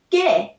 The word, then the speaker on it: 게: Also, Korean people pronounce 게 in 리을 게 뻔하다 for a tense sound like 게.